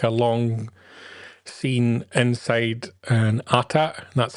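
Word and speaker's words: AT-AT: We got like a long scene inside an atata.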